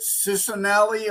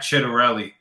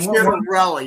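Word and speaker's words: Ciattarelli: and the RNC didn't really support was it Cisanelli or how do you pronounce his name? It was Jack Chidarelli and Chidarelli.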